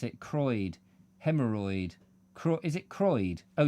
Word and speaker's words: Croyde: How do you pronounce it? Croyde. Hemorrhoid. Is it Croyde? Oh, just Croyde, not...